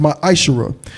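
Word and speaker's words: מעשר: It means 10th in Hebrew and is pronounced ma'ashara.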